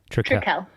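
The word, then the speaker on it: Trekell: You're sponsored by is it Trikel or Trekel? Mm-hmm. Trikel. Got it. Mm-hmm. Gonna remember that now. No one ever knows how to say it.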